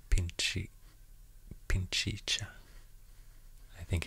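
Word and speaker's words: Pichincha: ecuador actually the province name is called pinchy pinchicha i think it's pronounced that way then we will enter kotopaksi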